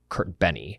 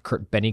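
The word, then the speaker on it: Kertbeny: by somebody named Carl Maria Kurt Benny I think is how you pronounce his last name now to keep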